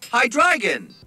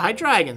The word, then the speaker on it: Hydreigon: Let's see how that one's pronounced, actually. Hydreigon. Yeah, Hydreigon, see?